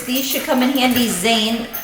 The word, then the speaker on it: Zane: These should come in handy, Zane. Pronunciation rhymes with rain.